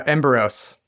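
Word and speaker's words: Emberos: It's either Embberos or Ember OS. Which one is it? Uh, Embberos.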